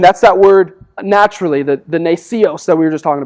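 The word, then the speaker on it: γνησίως: That word naturally, if I can find it here, it's a fancy Greek word that is actually pronounced nasios.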